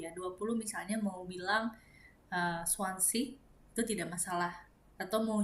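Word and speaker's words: zwanzig: Kemudian Swansea atau 20 itu juga ada yang Chuancik, ada yang Juanjik, ada yang Swansea, ada yang Swansea gitu ya. Jadi setiap orang berbeda-beda. Tapi kalau aku untuk 10 dibacanya Chen. Jadi dry Chen, via Chen. Kemudian kalau untuk 20 aku membacanya adalah Swansea.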